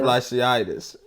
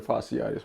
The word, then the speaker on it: fasciitis: Fasciitis. Did I say it right? No. What is plantar fasciitis, man.